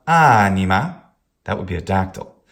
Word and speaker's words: anima: Anima.